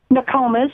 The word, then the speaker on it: Nokomis: Nokomis.